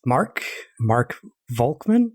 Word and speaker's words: Volkmann: And the guest for today is Mark Volkmann.